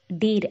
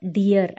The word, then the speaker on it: deer: Friends நம்ம next பார்க்க போகிற வேர்டு என்னென்னு பார்த்தீங்கன்னா டீர் அப்படின்னு சொல்லுவோம். பட் அது கம்ப்ளீட்டாக ராங் ப்ரொனன்சியேஷன். அதை கரெக்டாக எப்படி ப்ரொனவுன்ஸ் பண்ணணும்னா டியர் அப்படின்னு சொல்லணும்.